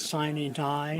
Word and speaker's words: sine die: The southern pronunciation is Sine Die. Right. It is a Latin phrase.